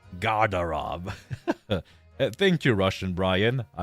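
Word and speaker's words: гардероб: It is pronounced as Garderob. Garderob.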